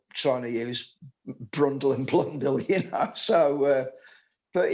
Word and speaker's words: Blundell: who doesn't know i mean in the japanese pronunciations they get their l's mixed up with their r's so it was always mark brundell and mark martin blundell and in the end